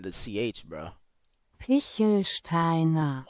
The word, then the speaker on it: Pichelsteiner: I don't want to mispronounce the ch. How would the ch sound? I don't want to say maybe. Pitchelsteiner. Pitchelsteiner. Pitchelsteiner. Pitchelsteiner. Pichelsteiner.